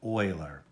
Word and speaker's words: Euler: hmm now an Euler diagram that's how you pronounce that funny name Whaler an Euler dant diagram you would say well